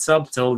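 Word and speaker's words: subtle: it's more calm and subtil than tongues you don't pronounce the B that said next question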